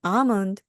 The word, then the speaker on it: almond: 메어 어라고 말을 합니다 아몬드는 영어로입니다 a 다음에 는은 음이기 때문에요 몬드가 아니고요 몬 앞부분을 강하게 해주시기 바랍니다 그래서 나는 아몬드를 좋아해요